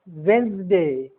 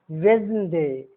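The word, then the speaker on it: Wednesday: वेंसडे, वेंसडे, वेंसडे। अब ई का उच्चारण कहां नहीं होगा?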